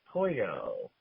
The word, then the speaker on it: pollo: The L's are pronounced like a Y, like pollo.